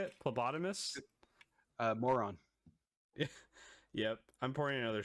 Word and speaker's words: phlebotomist: Phlebotomist.